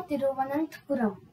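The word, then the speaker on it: തിരുവനന്തപുരം: केरला तिरुवनंतपुरम। सो एक बार फिर से मैं सब प्रोनाउंस करिए तिरुवनंतपुरम पुरम तिरुवनंतपुरम ठीक है, थोड़ा डिफिकल्टी होगा थोड़ा ठीक होगा।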